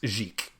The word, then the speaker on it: Xic: Zeke? Thank you. Driving me nuts. Jeek, yeah. It's spelt Xic, but pronounced Jeek. Yeah. Like Jeek.